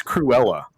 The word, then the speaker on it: Cruella: not only that um it's cruella by the way that's how you pronounce her name cruella right what was